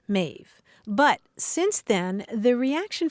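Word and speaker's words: Maeve: a little bit unusual you called her ma m AE V yes mave but since then the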